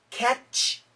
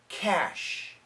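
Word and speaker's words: cache: when spoken in English so catch no cash like the cash memory on your computer champag no champagne champagne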